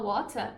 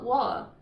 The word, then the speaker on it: water: Existe, isso não é errado, mas o que acontece muito no Reino Unido também é uma coisa que eles chamam de glottal stop, que é quando, ao invés de pronunciar o T, eles dão uma parada só. Então, na verdade, eles não pronunciam nada. Então, em vez de falar water, muita gente fala wa.